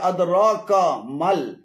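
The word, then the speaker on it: أدراك ما: এখানে আদরাক এবং কামাল উভয়টি ভুল উচ্চারণ, শুদ্ধ উচ্চারণ হবে আদরাকা মাল, আদরাকা মাল।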